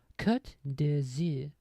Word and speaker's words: Côte d'Azur: To pronounce it in British English, break it down into sounds. Côte d'Azur.